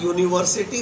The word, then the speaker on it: university: Like he is a university student. University begins with U, but it is pronounced like ya, right?